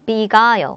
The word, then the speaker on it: beguile: 자, beguile이라는 단어 발음해보세요. beguile. 강세가 여기 오네요.